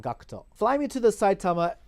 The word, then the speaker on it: Gackt: cinema and also gakuto or in other words gackt as some of you other some of you fans might pronounce his name gackt or but you should have actually just called Cocteau fly me to the